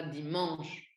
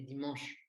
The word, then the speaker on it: dimanche: Par exemple, si je dis dimanche, en français, on ne dit pas dimanche, on dit dimanche. Je ne sais pas si tu arrives à capter la différence, mais bon, là, j'insiste pour la prononciation du mot et du son en.